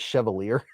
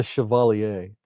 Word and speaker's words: Chevalier: I like the name, too, cuz I thought it was Chevalier. It's not the Chevier, it's the Shiovalier. Mick Ranger said, "My Manx 2 is pretty heavy with copper scales, but I still love it."